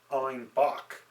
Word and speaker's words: Einbeck: And the funny thing is that the people in Munich, with their accent, they actually pronounced Einbeck, the city where wheat beers originally started, they pronounced it Einbock.